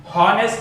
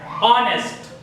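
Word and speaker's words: honest: चलिए बिल्कुल इसी तरह एच को यहां नहीं पढ़ा जा रहा है, साइलेंट, ऑनेस्ट नहीं कहेंगे, ऑनेस्ट।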